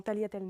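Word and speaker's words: tagliatelle: Dans Taliatel non plus, c'est important aussi.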